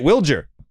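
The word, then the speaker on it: Wilyer: That was the first time that I met Willier in person, and he pronounces it Wilger.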